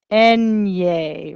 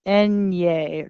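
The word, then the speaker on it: eñe: Enye. Remember, think Three Stooges. Enye. Repite. Enye. This is that nya sound.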